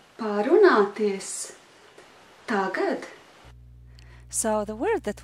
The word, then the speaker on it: parunāties: Varam parunāties. Parunāties.